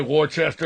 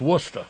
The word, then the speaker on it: Worcester: Worcester say it right some people say Worchester W it's Wester wer yeah I got a